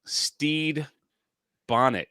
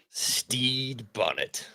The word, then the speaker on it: Stede Bonnet: and make sure I say his name correctly Steed Bonnet Steed Bonnet yeah what a name look at that Captain